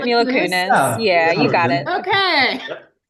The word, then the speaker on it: Mila Kunis: How do you pronounce Mila Kunis? Is that it? I think That's it. right. Mila Kunis.